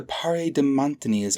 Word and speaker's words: paradematnyes: of clockstep merging the parade de montanias are massing again the woman in the red dress pronounced the second syllable with the affected long a that was all the